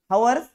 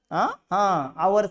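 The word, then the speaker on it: hours: असत का काय असतं हवर्स आवर्स असत आवर्स बी नसत याच करेक्ट प्रन्सशन सांगू का याला हवर बी म्हणायचं नाही आवर बी म्हणायचं नाही याला फक्त आवर्स म्हणायचं याला काय म्हणायचं आर्स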